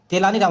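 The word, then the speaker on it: Tenali Rama: अब यहाँ से हम देखेंगे, तेलानी रमन है, लेकिन हम बचपन से सुनते आए हैं, इसका प्रोनाउंसिएशन करेंगे राम।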